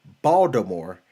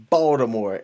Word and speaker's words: Baltimore: the NYPD she says never say the T in Baltimore LOL then why don't they just spell it that way the mayor put in a petition to just change it to the way that people say it how about that and